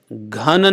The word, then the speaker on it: घन: नंदात्मजा यशबलाय नमो नमस्ते एक शब्द गलत उच्चारण हो गया है केशा नवीन घन नील निभांत अनघ नहीं है अनघ नहीं